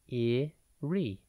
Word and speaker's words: eerie: It is pronounced eerie and spelt E-E-R-I-E.